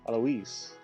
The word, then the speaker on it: Alois: Alois, I think is how it's pronounced.